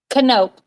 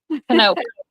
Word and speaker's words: Knop: Okay, I want to pronounce, I always just call you. You're Knopf? Knope.